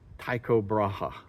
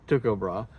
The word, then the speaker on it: Tycho Brahe: a an expert on in English we would pronounce it Tao Braha Braha but I uh tell me Lars how do you pronounce that in Danish tuob tuob tuob bra and you are from the museum Cale Museum